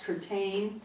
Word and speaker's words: Curtayne: child bumps mother Ida curtayne I used to say that's curtained it's spelled just like curtain entertaining the French Way arrives would pertain was